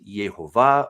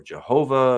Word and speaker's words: Yehovah: Now, I often say Adonai because that is a tradition. But what the word is actually is Yehovah or Jehovah, and there are different pronunciations.